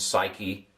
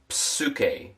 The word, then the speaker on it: psyche: Psyche. It's a PS sound in Greek. In English we don't pronounce the pine, the P. In Greek, we will. Psuk.